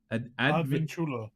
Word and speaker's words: Advincula: Advincula.